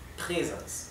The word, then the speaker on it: Präsens: Si la A no tuviera la diéresis, esto se pronunciaría Präsens. Pero como tiene la diéresis, se pronuncia Präsens. ¿Bien? Ok, es casi igual a una E. Präsens.